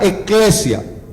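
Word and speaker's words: ἐκκλησία: La iglesia, según el diccionario Strong también, se pronuncia similar, eclesia, en el griego.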